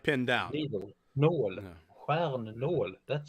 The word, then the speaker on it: nål: Nål. No. Stjärnål. That sounds terrible. Stjärnål. Yeah, it does. No. That's how you pronounce it then.